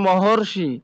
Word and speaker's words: মহর্ষি: এখানে দেওয়া আছে মহা যোগ ঋষি, মহার মধ্যে স্বর আ আছে আর ঋষির শুরুতে রি আছে, দুইটা মিলে হচ্ছে মহর্ষি, অর অর উচ্চারণ হচ্ছে মহর্ষি।